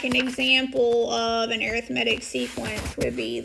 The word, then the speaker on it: arithmetic: refresher um okay now I know this is spelled arithmetic okay but we call it an arithmetic sequence and that's whenever you're